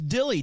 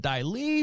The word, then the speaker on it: Dyli: i was like going is it daily no it's just plain dilly just like it sounds just silly so you're